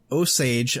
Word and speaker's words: Osage: police force in the osage i looked it up and that's how it said it's pronounced but i'm still not convinced but anyway the osage